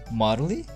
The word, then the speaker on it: Marle: to pronounce this one is it Mauro Marley Marley it's maro maro and you are Koroma